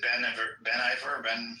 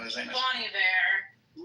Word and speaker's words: Bon Iver: If you watch her writing Folklore during COVID, she had, who's it, Ben Iver, what's his name? Bon Iver. Yeah, I almost throws an L because it's spelled like Ben.